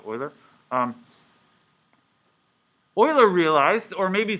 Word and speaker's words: Euler: which some people say euler but those people are wrong this is a german name it should be pronounced euler um euler realized or